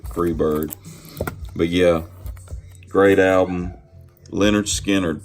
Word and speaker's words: Lynyrd Skynyrd: This is pronounced Lynyrd Skynyrd.